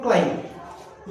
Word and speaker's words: climb: एक यहाँ पर मैंने स्पेलिंग लिखी CLIMB, क्लाइम। इसे क्लाइम नहीं बोलना है, इसको बोलो क्लाइम। यहाँ पर बी के पहले एम आ रहा है तो ये बी साइलेंट हो गया। यहाँ पर बी आपके प्रोनाउंसिएशन में नहीं आएगा।